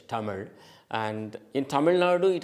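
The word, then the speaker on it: தமிழ்: Uh I I I'll spell it the way Tamil is actually pronounced Uh in Tamil. Otherwise, t a m i z h Tamil.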